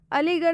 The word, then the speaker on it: अलीगढ़: ठीक है, तीसरा वर्ड लिखा हुआ है अलीगढ़, अलीगढ़ में भी आर एच आया हुआ है। ठीक है, लेकिन इस अलीगढ़ में आर एच का उच्चारण ड से किया जा रहा है।